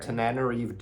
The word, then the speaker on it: Tananarive: Tananarive.